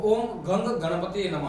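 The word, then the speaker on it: ॐ गं गणपतये नमः: भगवान गणेश जी का जो मूल मंत्र है ओम गम गणपतिए नमः उसका मूलतः जो उच्चारण है वो ओम गंग गणपतिए नमः है।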